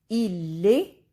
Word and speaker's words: il est: Il est, elle est. S and T are silent means he or she is.